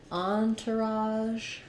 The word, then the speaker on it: entourage: those for you so for Entourage even though it has the word tour spelling of the word tour in it it we don't have an Ur in this we have the first syllable stress on Ian is the French on so it'd be better